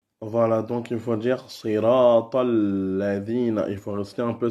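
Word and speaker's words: صراط الذين: Et après, siratal ladina. Siratal. Après, il faut dire tal directement, passer à ladina. Siratal ladina. Il faut garder un peu le lem.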